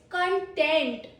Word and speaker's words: content: It's content. Content, a verb because it has stress on second syllable.